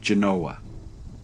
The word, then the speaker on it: Genoa: birthplace of Christopher Columbus however locally it is pronounced Genoa in 1861 it briefly served as the first